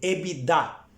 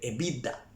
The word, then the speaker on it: EBITDA: Eso es el EBITDA o el EBITDA. Cualquiera de las dos pronunciaciones están bien.